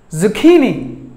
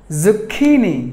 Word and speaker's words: zucchini: word were number 10 zucchini zucchini zucchini zucchini this word contains three syllables and the stress falls on the middle syllable key zucchini let's say